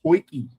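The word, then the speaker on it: potjie: It's called a poiki, but it's spelt weirdly. South African spelling is not like you did well to spell Boerewors, spell poiki. South African camp oven, poiki.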